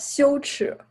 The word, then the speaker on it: 羞耻: Luego, Chang, how do you pronounce that in Chinese? It's called 羞耻.